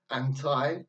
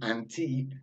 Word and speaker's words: anti: we saw last week anti has two pronunciations we have anti I think's British English and anteed is American English before acceptable even if